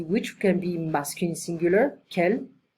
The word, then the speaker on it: quel: can be masculine singular, quel, can be masculine plural, quel, can be feminine singular, quel, and can be feminine plural, quel. So they all have the same pronunciation.